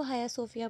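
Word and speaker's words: Hagia Sophia: ठीक है, इसको हाया सोफिया पढ़ना है, आपने जी को साइलेंट करना है।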